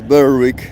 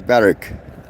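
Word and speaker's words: Berwick: day two we walk through Barrack um which is spelled b e r w i c k bck but no one says b week everyone says barck yeah I think this is how we distinguish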